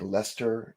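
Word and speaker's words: Leicester: Sometimes when you see how a word is spelled Yeah. you that letter is not necessarily pronounced and that's even more so more so in the UK you guys is it like leester and worester smittic I mean as a Canadian you come here and you're like smithwick and micious cuz I don't know that you're not supposed to pronounce those letters you have to grow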